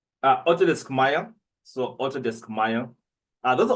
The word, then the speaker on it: Maya: Maya. You spell Yes. It's gonna be like the Mayan calendar, but just say with an A.